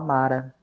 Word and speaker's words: Mara: Eu tenho uma dúvida sobre a pronúncia de Marã. É assim A gente mesmo? pode falar Mara.